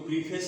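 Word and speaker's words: preface: तो इस तरह से आप देखेंगे कि जो प्रीफेस है उसका उच्चारण जो है प्रेफिस दिया, प्रेफिस इसको बोलते हैं, प्रेफिस टू द लिरिकल बैलेट, प्रेफिस ये पढ़ा जाएगा।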